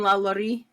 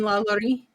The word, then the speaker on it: LaLaurie: Madame La Laurie. Oh, Madame Delphine La Laurie. Can you spell that?